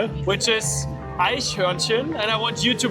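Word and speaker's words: Eichhörnchen: Which is ahin. And I want you to pronounce it once. Aishwansson. Aishin.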